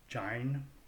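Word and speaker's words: join: Though oft the ear the open vowels tire, while expletives their feeble aid do gine, pronounced gine, and 10 low words oft creep in one dull line.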